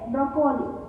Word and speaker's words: broccoli: B-R-O-C-C-O-L-I. Usually we say broccoli, but it is pronounced broccoli.